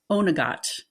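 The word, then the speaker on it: Oweynagcat: county roscom in Ireland called onot and I had to practice that quite a bit because it is not spelled like it sounds those Irish words are tough so there's this cave called onot that place was very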